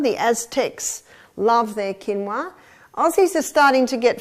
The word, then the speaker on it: quinoa: familiar with with it's spelled quoa but it's pronounced quinoa the Aztecs love their quinoa Aussies are starting to get familiar with it